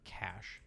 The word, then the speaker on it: cache: Or cash. Sorry. Cash.